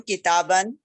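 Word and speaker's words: كتابًا: Kam kitaban. How many cars? Kam sayyaratan. Note that a noun with tanween in the executive case takes an alif which is not pronounced.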